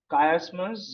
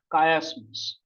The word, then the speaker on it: chiasmus: Chiasmus, Zeugma, Hendiadys, Mitotis, and Hyperbate. Chiasmus. Many pronounce this chiasmus, but I prefer chiasmus.